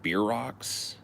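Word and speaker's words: bierock: made have you guys ever heard of beer Rock spelled like b i e r r o k s or something like that it's like a German dish beer Rock they're called and it's like a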